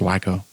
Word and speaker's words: Waco: a rumor that in Waco Texas they played the song thing it's pronounced wacko wacko okay Waco Texas they